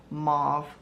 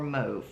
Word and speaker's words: mauve: And this color is called mauve or move, depending on how you pronounce it. I say mauve, my daughter says move.